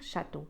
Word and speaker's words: château: Château. Je ne vais pas dire château. Château. أطيل حرف ال A.